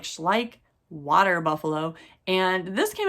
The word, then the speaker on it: Schleich: pay attention this is uh schleich schleich is how you say ish like um it's a